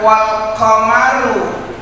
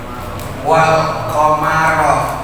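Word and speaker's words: والقمر: Jadi ulama-ulama Basrah itu dia mengucapkan wal qamaru, ngomongnya wal qamaru. Tadi kita bacanya apa? Wal qamaro, namanya qiraatus sab'ah. Artinya ini bisa dibaca wal qamaru.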